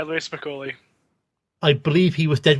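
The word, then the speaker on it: Louie Spicoli: Louis Spicoli, is that how you pronounce it? Yeah, Louis Spicoli.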